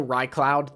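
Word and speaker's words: Raicloud: This also ricloud, the way it's spelled would be R A I cloud. And so that would kind of look similar to raincloud.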